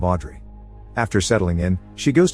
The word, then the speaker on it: Audrey: Park's house and asks to rent the room they're offering, telling them her name is Oh-do-ri, a mispronunciation of Audrey.